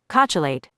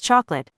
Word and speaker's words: chocolate: Haha, that is not how you say it. It is chocolate.